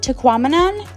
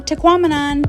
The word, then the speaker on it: Tahquamenon: just a little tip teamon rhymes with phenomenon so if you find yourself having a hard time saying it say phenomenon teamon also remember to choose